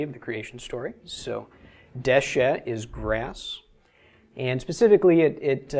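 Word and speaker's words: דשא: All right, first off, this is Dalet Shin Aleph, pronounced Deshe.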